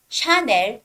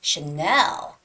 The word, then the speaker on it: Chanel: that luxury brand Chanel the stress goes on the second syllable so it's not Channel or it's not Channel or it's not China or Channel but it's Chanel and you have to sort of like emphasize the second vowel there at e and also